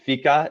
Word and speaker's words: fika: the back story explain explain real quick why fika is it with is that how you pronounce it yes f-f-i-k-a yep okay so we